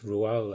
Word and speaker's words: Roald: Another one I've just learned how to pronounce, Roald, like Roald Amundsen, Roald Dahl.